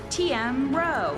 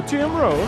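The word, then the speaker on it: TM Roh: Please give a warm welcome to CEO and head of device experience division, TM Row. Oh, TM Row. Okay, I didn't mispronounce it too much. At least I didn't say Tim.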